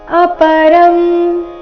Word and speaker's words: ಅಪರಂ: ಉವಾಚ ಅಪರಂ ಭವತೋ ಜನ್ಮ ಅಪರಂ ಇಲ್ಲಿ ರ ನಂತರ ಇರೋ ಅನುಸ್ವಾರ ಅದರ ಉಚ್ಚಾರಣೆ ಅನುನಾಸಿಕ ಅರ್ಧ ಮ ರೀತಿ ಯಾಕಂದ್ರೆ ಮುಂದಿನ ಶಬ್ದ ಭವತೋ ಭಿಂದ ಶುರುವಾಗ್ತಾ ಇದೆ ಪ ಭ ಈ ವರ್ಗದ ಅನುನಾಸಿಕ ಮ ಇದ್ದ ಕಾರಣ ಅಪರಂ ಅಂತ ಬಂದಿದೆ ಅಪರಂ ಭವತೋ ಜನ್ಮ ಪರೈನ್ ಜನ್ಮ